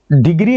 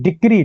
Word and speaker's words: decree: डिग्री नहीं, डिक्री, DECREE, डिक्री, ये word बहुत प्यारा वर्ड है, इसे याद कर लेना, ठीक है।